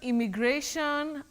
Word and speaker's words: immigration: i o n immigration immigration how do we go about that one now Betty we don't say im my we say im immigration we have the word